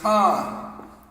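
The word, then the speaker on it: כן: yes in hebrew is khan yes in hebrew is khan so someone asks you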